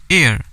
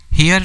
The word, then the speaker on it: heir: Legitimate मतलब क्या होता है, उचित, एयर। अब देखिए यहाँ पे क्या लिखा है, HEIR, हेयर नहीं पढ़ेंगे, H साइलेंट हो जाएगा, इट इज़ अ एयर।